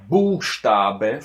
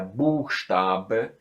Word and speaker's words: Buchstabe: beginning of the word, der Buchstabe, for example, der Buchstabe, you see this B is in the beginning and the second one is in between two vowels, so you see this one gets soundy and soft.